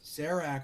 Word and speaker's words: Sarax: well way back when sarak rhymes with tracks and back cerec yeah we could